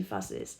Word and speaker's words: fusses: Now there's a third category, which is pronounced is. And that would concern verbs that ends with the sound S, such as like fuss. She fusses. She is making a scandal or something. She fusses. So you hear the sound sis.